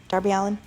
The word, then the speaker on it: Darby Allin: Darby Allin is really, really, really amazing. So is Joey Janela, and did I say his name right? Darby Allin? Yes. I did.